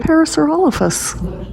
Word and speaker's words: Parasaurolophus: Towering above the velociraptors here, we have the Parasaurolophus. Or, depending on where you're from, Parasaurolophus. I've heard it pronounced both ways. I've always said Parasaurolophus.